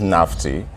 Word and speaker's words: Nafti: So Nafti, the real pronunciation is Nafti.